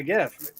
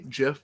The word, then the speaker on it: GIF: Yeah, the creator says it's pronounced GIF like the peanut butter, and the creator's fucking wrong.